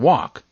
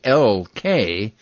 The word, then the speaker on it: walk: L tell me more I'm actually silent in some words when I'm followed by another consonant as in walk it's spelled wal K but it's pronounced walk